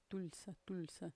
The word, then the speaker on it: Tulsa: Como é que é a pronúncia? Tulsa. É que o T deles, não sei, fica bem pronunciado. O primeiro T ainda dá para pronunciar, né?